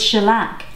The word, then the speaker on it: shellac: to apply the shellac oh it's shellac yeah I think I've been saying the wrong thing I've been pronouncing it incorrectly but I won't do